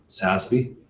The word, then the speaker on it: SASB: There is a group here, partially in San Francisco, called SASB, If you're familiar with FASB, which is the Financial Accounting Standards Board, they are the Sustainable Accounting Standards Board. Deliberately rhymes with FASB, and will be an